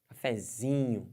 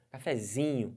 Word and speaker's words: cafezinho: você vai testando e você vai descobrir que a sílaba tônica da palavra cafezinho cafezinho pode forçar a vontade cafezinho cafezinho força bastante e